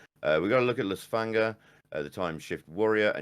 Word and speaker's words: Lysfanga: Lysfanga. Lysfanga.